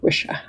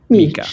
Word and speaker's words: Micha: It rhymes with wish. Wisha. I wish you the very best. Yes. I mean, if it were Italian, it would be Mica.